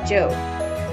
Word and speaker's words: Job: going off to her job which in the bible is pronounced job the books of old